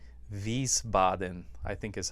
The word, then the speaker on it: Wiesbaden: it takes place in a small town called wiesbaden i think is how you say it in